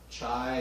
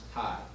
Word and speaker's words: chi: fit test and chi square it looks like chai or chi or shy but it's pronounced chi we go to our chi-square test our observed